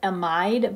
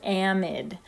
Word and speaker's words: amide: amide it looks like we should call it amide but it's pronounced amide and it doesn't matter what's attached to the